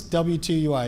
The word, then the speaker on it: W2UI: What's W2UI? Is there a cute name for it so I pronounce it right?